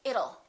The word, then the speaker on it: it'll: fast d and say it'll it'll rain it'll be hot it'll be nice it'll rhymes with the word little we don't say little we say little it'll little that's a